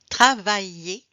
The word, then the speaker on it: travaille: Travailler, dîner, commencer. Je travaille, aïe, like aïe, hein, comme aïe, hein. Donc, travaille, aïe.